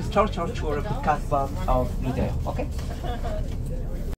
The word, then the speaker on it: Casbah: So Casbah, which is the right pronunciation, means bamboo tree, okay?